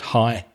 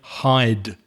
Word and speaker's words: hide: sit in a bird high. And it's not hi. It's not hi. There's a duh in that word. So she she needs to say hide.